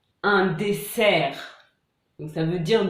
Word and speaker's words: dessert: Donc par exemple, un désert, un dessert.